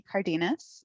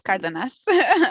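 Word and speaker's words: Cárdenas: So like the English way to say it would be Cardenas, but like the way that I pronounce it is Cardenas.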